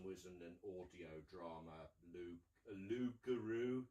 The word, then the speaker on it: Loup-Garou: Nicky Henson was in an audio drama, Loup-Garou. It's pronounced French, but it's basically about werewolves in Brazil, and he's the chief baddie.